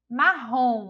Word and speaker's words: marrom: Marrom, olhem só, marrom, a gente já identifica aí que a sílaba tônica é a última sílaba e que não está com acento porque termina em on, tá lembrado da regra?